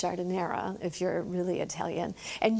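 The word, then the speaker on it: giardiniera: Because I always thought it was jardiniere. No, it's jardinera if you're really Italian.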